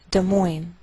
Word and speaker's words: Des Moines: indiana des moines iowa note that we treat the name of this capital like one word and the greater stress is on the second part so we say des moines des moines iowa and i believe we do this because we took the name from another language Topeka Kansas frankfort kentucky